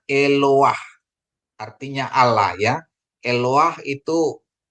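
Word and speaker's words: אֱלוֹהַּ: stolen patanya jadi bacanya eloah artinya Allah Ya eloah itu Tunggal ya tunggal kalau Elohim itu jamak ya dalam dalam bentuk singuler ya Jadi ini eloha ya eloha bukan bacanya eloha tapi eloah ya Ini namanya stolen pat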